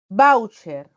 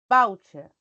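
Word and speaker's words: váucher: y lleva Tile siempre voucher voucher aquí está la sílaba tónica palabra grave que termina en r puedo tilar pero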